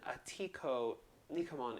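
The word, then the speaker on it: Atihko Nikamon: john rambo and then atiku nikuman is the cree how you say it in crete and i should have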